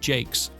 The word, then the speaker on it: Jacques: The 16-bit version was composed by Jun Senoway, whilst the 32-bit version was composed by Richard Jacques. Yes, that's how it's pronounced, I was kind of surprised myself.